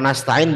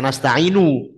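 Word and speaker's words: نستعين: Kalau nasta'in berarti iyyaka na'budu wa iyyaka nasta'in. Nasta'in. Lebih kedengaran dikit. Nasta'in. Nasta'in. Bukan nasta'inu. Nasta'inu jadi satu. Nasta'in.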